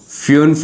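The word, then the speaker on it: fünf: Five को क्या बोलते हैं फ्यूफ उन जंजिश फ्यूनफ उन जॉन शिवश बड़ा ही इजी है।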